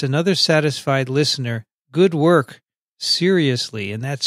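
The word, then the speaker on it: cereus: He writes, another satisfied listener, good work, seriously, and that's spelled C-E-R-E-U-S.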